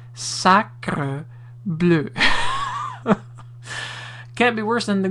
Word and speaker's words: sacre bleu: Here's some coaching in regards to saying the proper appellation, pronunciation of sacre bleu. It's not sacré bleu, it's not sacré bleu, it's sacre bleu.